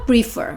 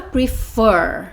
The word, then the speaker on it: prefer: Porque o stress está na sílaba do CVC. Você não fala prefer, você fala prefer, tá vendo?